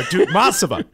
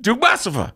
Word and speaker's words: Dukmasova: Dukmasova. I said it right. Oh, you did that. Dukmasova. There you go. There it is. Dukmasova.